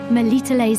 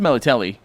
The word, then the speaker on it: Melitele: MELITELE'S heart can once again bring luck.